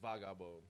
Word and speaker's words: Vagabon: Oh man, so Vagabon is it's actually pronounced Vagabon. Okay, how do you pronounce it? Vagabon. Vagabon. Okay. It's Haitian Creole for hoodlum.